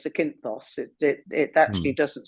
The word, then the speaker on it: Zakynthos: That's spelled with a Z, Zakynthos.